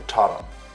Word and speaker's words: totum: Pronounce the totum, sort of with a U, not with an O.